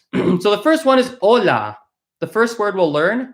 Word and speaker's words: hola: right I'll point out this H is silent we do not pronounce HS in Spanish so it is pronounced